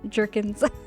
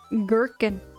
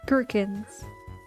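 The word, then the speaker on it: gherkins: So, it starts with a hard G sound like G. Girkin. I have never heard somebody say gerkin here. I always hear jerkens. Yeah, it's pronounced gerkins.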